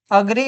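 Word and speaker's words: agree: भैया ये ऐसे एग्री एग्री का नहीं, अग्री पढ़ते इसे। ठीक है, इसकी राइट प्रोनाउंसिएशन जो होती है वो होती है अग्री।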